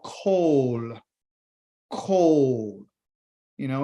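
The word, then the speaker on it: קול: The Hebrew word for voice is called kol. Kol. You know, it sounds like cold, but it's kol.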